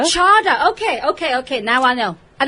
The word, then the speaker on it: Cada: But it's pronounced Chada, like Prada. Chada.